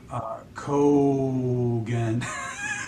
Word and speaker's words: Kogan: And then Long O. So Kogan.